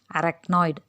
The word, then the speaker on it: arachnoid: அந்த ARACHNOID அப்படிங்கிறத அந்த சிஹெச் நடுவில் வருதில்ல, அதை எக்கு சவுண்டோடு தான் ப்ரொனவுன்ஸ் பண்ணணும். அரக்னாய்டு.